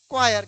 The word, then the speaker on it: choir: लोग यूज करते हैं क्वायर। क्या यूज करते हैं? क्वायर। क्वीर नहीं पढ़ते हैं, क्वायर, CHOIR। यहाँ भी CH का प्रोनाउंसिएशन क है, च नहीं।